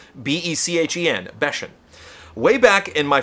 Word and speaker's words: Bechen: I'm super stoked I know how to pronounce this correctly now. Tim Bechen. Bechen. B-E-C-H-E-N.